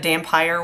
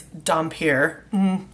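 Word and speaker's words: Dhampir: I think I actually said Dampire once. I put the E at the end, whatever. It's Dampier. So, anyway, that's funny.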